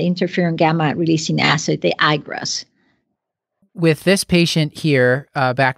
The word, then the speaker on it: IGRA: So in those patients, I prefer using the interferon gamma releasing assay, the IGRAS.